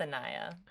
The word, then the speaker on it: Anaya: It's pronounced Anaya. Anaya.